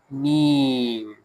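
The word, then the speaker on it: م: Next is me. Me. Very easy. Closing two lips together.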